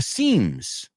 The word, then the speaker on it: seam: And they were just these weak points, puntos débiles, that were in the seams. Las costuras, you say? The seams. Hey, we're talking about sewing today. Okay. Seam, S-E-A-M. Suena igual que, hey, this, te doy una expresión.